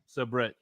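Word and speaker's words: Sabrett: Nacho Fan said that's how you pronounce it. Subrate. Sabret.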